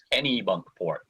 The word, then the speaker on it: Kennebunkport: I've been here but it's Kenny with a long e all right so Kenny